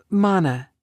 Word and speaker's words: Mana: girl when she wanted how do you say this mana mana like Donna with an M although she could feel